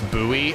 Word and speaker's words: buoy: I've never heard it pronounced boy. It's buoy. That's just a British thing. They just pronounce it differently.